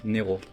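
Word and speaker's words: νερό: Néro, faut bien prononcer le vert. Il faut vraiment bien prononcer.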